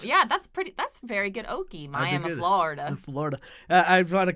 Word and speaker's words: Miami: And it's actually pronounced Miami? No, It's Miami. you got it. I was reading your stuff. That's right, Miami. Miami. Yes, if you pronounce it Miami, they'll throw rocks at you.